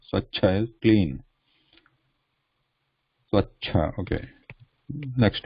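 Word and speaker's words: स्वच्छ: So the cha going from left to right, cha, the vertical line is lost, so it is just a consonant. Then there is a cha with the sound at the end.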